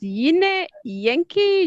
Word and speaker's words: Yine Yenki: yash so my okay my name is pronounced as yine yankee yankee yes yeah yeah